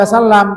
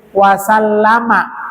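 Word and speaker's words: وسلّمَ: Jangan cuma sallallahu alaihi wasallam, tapi sallallahu alaihi wasallama. Ada fathahnya mimnya? Ada. Ya, jadi jangan cuma sukun, karena ini bukan waqaf.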